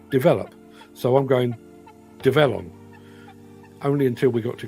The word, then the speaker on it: Develon: well it looks like develop so I'm going develon only until we got to con Expo a few months later and somebody said it's um not develop it's develon on you get the idea so yes uh